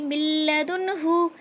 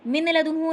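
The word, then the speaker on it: مِن لَّدُنْهُ: की आवाज़ साइलेंट रहेगी मिल्लदुनहु कुल्लुलहु य कुलहु रिसलकुम उफ़्कुम मिलबिन ठीक है देखिए मिल लदुनहु मिन लदुनहु नहीं मिल लदुनहु मीम मीम लाम ज़ेर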